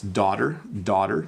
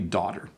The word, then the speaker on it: daughter: It's actually D-A, it's daughter. So don't get confused by all those extra letters. It's simply daughter, okay?